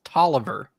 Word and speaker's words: Taliaferro: It's Tolliver.